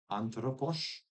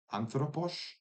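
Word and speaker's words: ἄνθρωπος: Um, anthropos, anthropos. See, the way I'm pronouncing it is nice and close to the modern theta, where in certain contexts I think it can slip into just being a theta.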